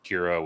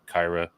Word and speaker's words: Kira: I'm being entirely honest before we actually met in real life Kira was Kyra to me so I butchered my